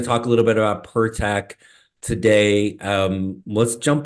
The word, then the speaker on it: Pertech: and and GNA talk a little bit about pertech today um let's Jump Right In man right